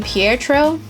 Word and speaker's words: Pietro: my favorite little babies I believe you pronounce his name Pietro he is a sheep